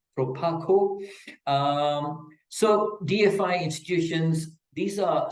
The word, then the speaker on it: Proparco: Key examples will be the British International Investment, BII, or for PARCO, that's the French pronunciation for people who know it as Proparco, but it is Proparco.